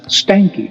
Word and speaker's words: Stahnke: It's my pleasure, and the last name is pronounced Stahnke. Stahnke, that's exactly what I thought.